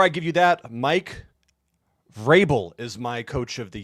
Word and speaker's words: Vrabel: Vrabel. You pronounced it correctly.